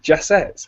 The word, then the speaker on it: Jasset: you the CEO of fee bars it's Nick jesset how's it going Nick doing great how are